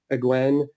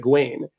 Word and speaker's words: Egwene: Like, so for me, it's definitely, I always pronounced it Egwen or like Egwin, like that. But in the audiobook, they pronounce it Egwene.